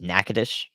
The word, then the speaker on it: Nacogdoches: the day of so we'll see yeah Nacogdoches nakadish in Louisiana I've learned a lot but there's always learned more to learn about pronunciations where would I have positioned on last